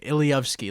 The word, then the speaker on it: ilowski: I even left out my last name ilowski that's how you pronounce it ilowski for the